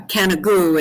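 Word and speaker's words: Canigou: I was exploring near Mount kagu uh kagu in French it's the highest peak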